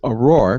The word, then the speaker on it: ARAWR: tonight is from uh aurora pc a-r-a-w-r when you that's it's an acronym but they pronounce it aurora pc and it's a service